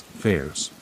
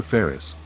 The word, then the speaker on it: Ferris: People actually started thinking my real, legal name was Fairs, but that is absolutely not right. It is a complete misunderstanding. I am Dr. Ferris, an Egyptian forensic pathologist